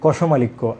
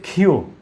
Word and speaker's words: ক্ষিয়: কষমালিক্য, যে দেখেন কি একটা কঠিন জটিল একটা নাম দেয়া হয়েছিল, যে কষমালিক্য। আসলে এটি কষমালিক্য নয়, এটি হচ্ছে ক্ষিয়। এই বর্ণের শুদ্ধ উচ্চারণ হলো ক্ষিয়।